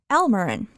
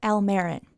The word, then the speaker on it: Almeron: And just a note on that name, in some older presentations you will find museum staff pronouncing his first name Almeron, but recently members of the family approached us and told us that they pronounce it Almeron, so we made the change.